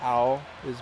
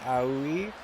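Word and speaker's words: 青い: I think I was more pronouncing it if it were written like A-U-E, like Aoi, but it's like Aoi. There's a subtle difference, right?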